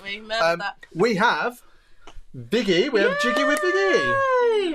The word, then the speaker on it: Viggy: the normal pronunciation, but where Viggy comes from is Vicky with the New York accent, so Viggy, like a little more fast-paced, so like biscuits.